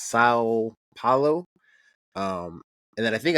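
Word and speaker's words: São Paulo: the the I guess I think it's pronounced sa Pao um and then I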